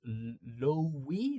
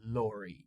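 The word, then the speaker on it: lorry: So when the R is is sandwiched between two vowel sounds again you cannot uh remove the R in British English.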